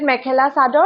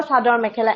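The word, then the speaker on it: mekhela chador: You can either call it mekhela sadar or sadar mekhela. Any of the two two ways it works.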